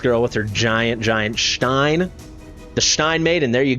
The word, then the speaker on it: Stein: made or Stein Maiden I know people get angry at my pronunciation but I lived in Germany for a year I've been dating a German woman for 5 years it is pronounced Stein it's a cool skin